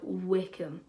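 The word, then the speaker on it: Wycombe: Yes, I'm saying it right, Wickham.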